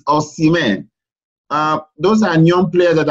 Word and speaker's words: Osimhen: People used to pronounce that name as Osimhen. We are innocents. That name is Osimhen. Osimhen. My own, Osimhen. So Osimhen, I think we should correct them that. Yeah. It's not Osimhen, it's Osimhen.